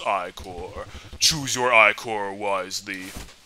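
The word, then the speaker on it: Ichor: with a magical i-core that's pronounced i-core choose your icore was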